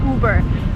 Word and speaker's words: Uber: you burn it again you do not follow American pronunciation rules here you just say uber so Lincoln over I